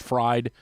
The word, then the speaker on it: Fried: into a lather about does it bother you that his last name is is actually pronounced fried and he doesn't want